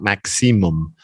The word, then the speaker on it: maximum: It's not cium. That's like titanium or aluminium. Again, aluminum is what we say in Canada, but aluminium, I think, is the proper word. This one's the same. It's just maxa, and it's a s, not maximum. Maximum. Yeah, just 3 syllables.